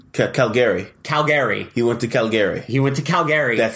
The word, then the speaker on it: Calgary: He went to Calgary. That's how it's pronounced.